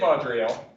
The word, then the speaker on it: Vaudreuil: i'm going to let you do the french pronunciations from here on out now you've done it so the marketed vodrio begins getting reinforcements from the continent now the